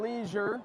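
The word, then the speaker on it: Lesure: They call him Leisure. Leisure. Over the PA. Leisure, okay. O.J. Leisure. Maybe if he was in Louisiana, it'd be Leger. Yeah. Yeah. It's spelled with an S, L-E-S-U-R-E. You know, Oh, not okay. the proper spelling of leisure, so that's maybe why it's leisure.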